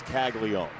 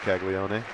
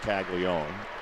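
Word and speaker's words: Caglianone: It is Tag Leone. Not like Tag Leone. Yeah, it's it feels like there's an extra N, but it's actually pronounced Tag Leone.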